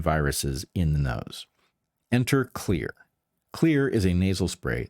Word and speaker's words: Xlear: That's Xlear, pronounced clear.